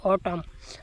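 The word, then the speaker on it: autumn: आगे है ऑटम। अब इसमें ओटम नहीं पढ़ा जाता। ओ टर्म पढ़ा जाता है। यानी आखिर में एम जो है वो साइलेंट होता है।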